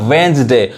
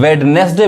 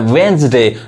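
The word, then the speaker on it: Wednesday: इस वर्ड में देखिए यहां भी डी साइलेंट है डी नहीं पढ़ाए क्या पढ़ाए वेंस डे अब इसको भी गलत लोग पढ़ते हैं वेडनेसडे बोलते हैं वेनसडे नेक्स्ट देखिए यहां एच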